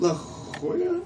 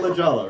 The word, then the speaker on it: La Jolla: How do you pronounce it? La Jolla? It's not La Jolla, right? No. Correct.